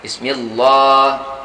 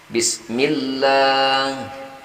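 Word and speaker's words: بسم الله: Padahal di sini baris bawah bertemu dengan lapas jalala, bacanya L-nya itu tipis mestinya. Tidak Bismillah. Misal kalau biasanya kita baca, sahabat-sahabat mulia yang kurang pas membacanya Bismillah. Nah, di sini mestinya tidak demikian. Kita baca tipis Bismillah.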